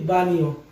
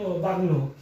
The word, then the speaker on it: bagno: দেখুন ভি আ জি এন ও, এক্ষেত্রে দেখুন এই জি এর উচ্চারণটা এন এর পরে ব্যবহৃত হয়েছে, যেমন VAG NO যদি আমরা সাধারণভাবে পড়তে যাই তাহলে সেটা হয় হলো BAG বাগ্ন, কিন্তু এটা হবে VAG BAGNO বানিও, অর্থাৎ এই জি এর উচ্চারণটা শেষে দিয়ে এন এর পরে যে নিও শব্দটি ব্যবহৃত হবে।